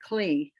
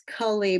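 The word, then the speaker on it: כלי: So it sounds more like kli, but it's kali, but it's when it's pronounced quickly, it's kli.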